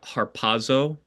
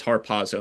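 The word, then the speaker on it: ἁρπάζω: The idea actually comes from a Latin translation of uh the Greek word harpazo. Harpazo is how I pronounce it. And I hope I'm pronouncing it right.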